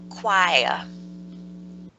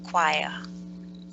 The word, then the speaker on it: choir: Choir. It's very strange, but it's pronounced like choir.